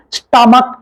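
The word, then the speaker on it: stomach: இந்த சொல் தவறுதலாக எழுதப்பட்டிருக்கிறது ஆனாலும் இங்கே கே சவுண்டு தான் வரும் ஸ்டமக் என்றுதான் உச்சரிப்போமா ரவுலக் ரவுலக் ஓ டிச்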